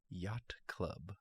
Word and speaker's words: Yot Club: What about Yacht Club? But yacht is spelled Y-O-T. Yacht Club.